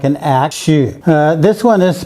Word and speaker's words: 戌: This is pronounced Xu, and it means 11. It's also a weapon or possibly a tool. You can see that this one looks more like an axe. Xu.